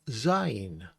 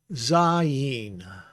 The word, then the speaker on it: Zayin: And then this is the E sound, long E sound, because it's a hirik Yod. And a hirik Yod makes the long E sound. So it's Zayin.